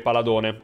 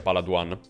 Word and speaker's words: Paladone: Poi abbiamo tutti i gadget della serie Paladone, dovrebbe essere questa la pronuncia, non credo sia Paladuan.